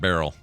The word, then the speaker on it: Beryl: Is that how we're pronouncing that? Yeah. Okay. Yeah, it's Beryl.